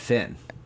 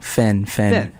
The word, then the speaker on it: Fen: I would call it Finn. It sounded like you said Fen. Oh, no. Fen. Like Fen. The end. Fen.